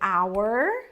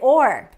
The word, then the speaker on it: our: son our family so we have this two pronunciations we can say our our or we can say or right so or family